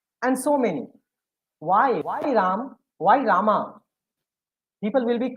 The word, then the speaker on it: Rama: RM, Ram, and then last A is pronounced like Shwa.